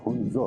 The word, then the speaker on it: ہنزو: کاغذات تھے اس میں ہنزا لکھ دیا، جو اصل تلفظ ہے ہنزو ہے، HUNZOU ہنزو۔ جس طرح چائنا میں گوانزو،